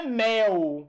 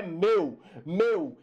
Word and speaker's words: meu: Não é mel. Ah, não, isso aí é mel. Isso não é céu, isso é mel, né? Eu comprei, então isso é mel. É mel? Não, é meu, eu.